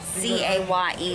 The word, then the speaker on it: Caye: Because it's spelled C-A-Y-E like K, but it's pronounced Caye.